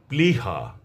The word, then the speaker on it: প্লিহা: আমি আবারও বলছি যদি শব্দের বা পদের প্রথম ব্যঞ্জন বর্ণের সঙ্গে লফলা থাকে তাহলে সেই লফলার উচ্চারণ অবিকৃত থাকবে। অর্থাৎ ল এর উচ্চারণ স্পষ্টভাবে আসবে।